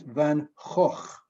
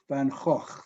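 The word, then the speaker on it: Van Gogh: name is pronounced vincent van hoch not go or go van gaach that's the dutch name he's a painter if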